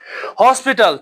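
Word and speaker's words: hospital: हॉस्पिटल, ठीक है? यहां पे एच साइलेंट नहीं है।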